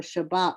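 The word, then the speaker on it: שבת: But with the dogish in the middle, basically it's Shab, shab, and then bat. So basically the B is attached to both syllables. So that's why we get the spelling for Shabbat with 2 B's.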